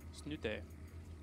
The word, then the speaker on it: Snute: Team Liquid it is sno sno I'm pretty sure that's actually very close to how you pronounce his name yeah in in Norwegian but everyone just calls him snoot though yeah Su snoot